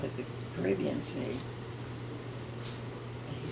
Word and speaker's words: Caribbean: And I said, it's Caribbean, not Caribbean. And he said, what makes you think that? And I said, well, they were talking about it on the radio, and they called it the Caribbean Sea.